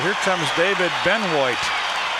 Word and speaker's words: Benoit: Utah Jazz it's on David Beno b n o i t pronounced Ben I guess that's the uh French interpretation of the I don't know my French is all so poor John doubled on Scotty